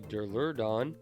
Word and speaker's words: Duraludon: And we got the Duraludon, that's how you say it.